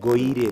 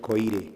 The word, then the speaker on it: Goire: Goire is Goire. my name. Goire, not Koire.